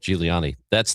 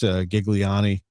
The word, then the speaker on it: Giuliani: Giuliani. That's the right way to say it. Yeah. He told me once upon a time that you can say it anyway. There's an Americanized Gigliani.